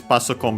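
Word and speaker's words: パソコン: Passo con becomes unaccented as abbreviation, so be careful.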